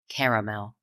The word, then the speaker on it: caramel: that's perfectly fine but Southerners and East Coasters we Embrace that second vow and we spread this candy out to three syllables caramel yeah SP um oh